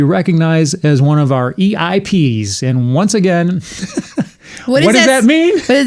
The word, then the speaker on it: EIP: It sounds like VIP instead. So instead it's EIP and EIP because it rhymes and happens to kind of sort of similarly match the letters of the Elvis impact.